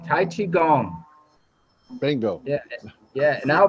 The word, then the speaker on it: Tai Chi Gong: us tonight brian thompson hey brian i keep pronouncing it tell me what it is the name what we do is called tai chi gong tai chi gong bingo yeah yeah and i'll be happy to